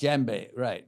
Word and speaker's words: djembe: Djembe. Okay, no one's ever heard. We're learning things. We're All learning right, things. djembe. Djembe. Yes. Djembe, right. You play that. The D is silent.